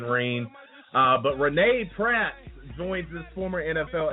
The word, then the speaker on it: Renee: am getting it wrong it's Renee R NE Renee okay I thought it was Renee but I wasn't sure so I I was saying Rene uh but Renee Pratt joins this former